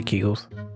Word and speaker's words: Kegel: I heard somebody say Kegels. I said Kegels at first, but then I learned it was Kegel. The last person I talked to, she said Kegels. She said it wrong.